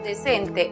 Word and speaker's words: decent: La siguiente sílaba, sent, es cerrada porque termina en consonante. Entonces, aplicamos el sonido cerrado de la vocal e. Es decir, e igual que en español. La pronunciación para la palabra decente en inglés es decent.